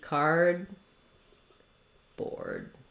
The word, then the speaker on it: cardboard: bore board cardboard and what you'll notice is that we don't tend to say card board these D's again are unreleased so I go up to close my tongue off for the D card but then I